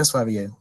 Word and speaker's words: Sverige: Ya tulisannya Sverige, tapi bacanya Sverige.